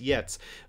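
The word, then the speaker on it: Giertz: saying that right yet cuz it's spelled Gertz but i I think it's pronounced yets but Simone got a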